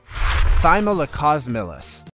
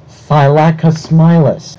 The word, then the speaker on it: Thylacosmilus: Thylacosmilus. You spelled it correctly, so how could you screw the pronunciation so bad? This is the worst attempt at pronouncing Thylacosmilus.